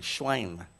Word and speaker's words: Schwein: a herd of many schwein feeding schwein that's the german pronunciation so the demons begged